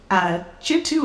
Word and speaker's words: Kintu: Chintu is spelled Kintu, and that book took over my life for a year or two.